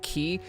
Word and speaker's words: chi: greek letter x right it's uh spelt c-h-i a lot of people just call it key i mean you could call it key i just want to confuse you guys saying key if you don't know what i'm talking about uh and technically the right pronunciation is that weird sound it sounds like you're horking up a loogie you know he because it's the greek letter x but whatever let's